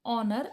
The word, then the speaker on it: honor: There should be n, because in honor a h is silent and we pronounce honor.